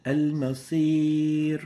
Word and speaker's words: المصير: This is not masir. Masir is a totally different word with a different meaning. This is al-masir. So the right way of pronouncing this is المصير masir, not masir. So make sure that the sad remains attenuated and avoid mixing it with a sin.